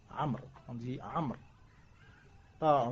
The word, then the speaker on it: عمرو: عمرو il y a le waouh à la fin. Amr, on dit Amr. Pas Umaru.